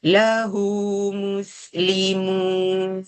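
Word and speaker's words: لَهُ مُسْلِمُونَ: Jadi bacanya kena dua harakat. Macam mana yang pertama tu? Lahu muslimun. Ramai-ramai lahu muslimun.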